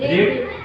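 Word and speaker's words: read: Foot foot foot, cut कट कट, रीड वो रीड रेड रेड है, रीड का spelling वही रहेगा, रीड रीड रेड, वो स्पेलिंग सेम है पर प्रोनाउंसिएशन अलग होगा।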